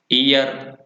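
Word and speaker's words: heir: Honest में भी same यही बात कि एन ऑनेस्ट मैन, और ईयर, ईयरेस, ऑनरेबल और ईयरलूम। तो ये साइलेंट रहता है इनमें एच, तो इन वर्ड्स को आपको ध्यान रखना है।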